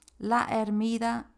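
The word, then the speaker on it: La Hermida: that you see there laida the H is silent in Spain in Spanish at the beginning of the words so laa Gorge or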